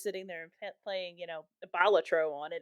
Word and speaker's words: Balatro: Yeah, that's how the developer pronounced it. I always pronounced it Balatro, but it was during the Game Awards that he pronounced it Balatro.